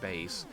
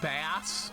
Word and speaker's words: Bass: It's pronounced bass. Oh, yeah. Like in Mega Man 8. Yeah, it's bass like the fish.